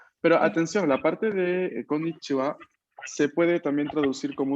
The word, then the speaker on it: こんにちは: No, recordemos poner el acento un poco en la última sílaba, ¿no? Konnichiwa, konbanwa.